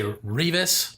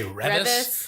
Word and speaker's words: Reavis: Because people say Reavis, but my family, we say Revis. Yeah. It's that REA. Yeah. Because you read a book, it's spelled the same.